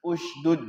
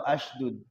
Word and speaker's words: اشدد: Hati-hati kalau dari kalau Harun akhi wakaf di situ berarti usdud ya. Jangan isdud atau asdud. Bacanya usdud. Ya. Jadi kalau kita mau wakaf di Harun akhi berarti itunya jangan isdud tapi usdud.